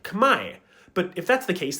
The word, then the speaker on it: Khmer: English sources normally say it's pronounced Khmer, but that's an anglicization. The original pronunciation in the language is more like Khmer.